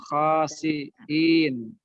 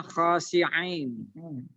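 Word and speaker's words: خاسئين: Kunu kiradatan khasiin. Nah, ini hati-hati membacanya, Bu. Huruf hamzahnya jangan sampai dibaca ain. Khasiin dengan khasi'ain.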